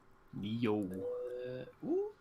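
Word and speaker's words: NIO: tomorrow it is new they pronounce it Neo what if okay it's Neo confirmed thank you Opie it's Neo nah yo uh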